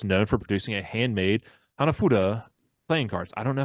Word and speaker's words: Hanafuda: for producing a handmade Hanafuda playing cards. I don't know if I pronounced that right. I did my best, Preston. Hamafucha. No, there's an F in there. There's no ch.